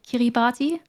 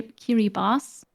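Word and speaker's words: Kiribati: Pacific that is called kirati the thing is it's not pronounced that it's actually K Kiri Bas because they pronounce differently but I didn't know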